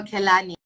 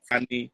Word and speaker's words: Kehlani: I like listening to I don't know if I'm pronouncing it right, Kelani or Kehlani. Oh, Kelani. Yeah, you're right. Kelani.